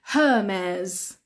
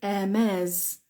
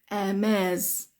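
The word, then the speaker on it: Hermès: excuse me yeah so the H at the beginning we don't pronounce that because it's a French name we say Hermes Hermes Hermes okay it's a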